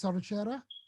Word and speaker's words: Saruchera: Have I pronounced that correctly, Saruchera? You've pronounced it almost perfectly.